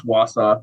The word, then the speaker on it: Wausau: Wausau, is that how you say it? Wausau? Yeah, it's Wausau.